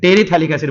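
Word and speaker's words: terephthalic acid: This is your टेरेथैलिक एसिड। अच्छा, थैलिक एसिड में एक बात ध्यान रखिएगा, PH साइलेंट रहेगा, ठीक है, थैलिक एसिड, टेरेथैलिक एसिड बोला जाता है इसको।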